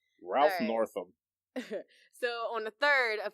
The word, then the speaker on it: Northam: little bit longer to enjoy the catalog Ralph Norton northen Ralph these sound races I only care about mispronouncing his name Ralph Northam so on the 3rd of February four more